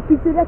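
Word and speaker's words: Pixlr: Un pixelaire qui s'écrit P-I-X-L-R et c'est pixelaire éditeur et vous allez voir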